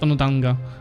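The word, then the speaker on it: Onondaga: much the highest win power except Atigaradu and Onodanga, which are not in his federation. Hey, good job pronouncing that one.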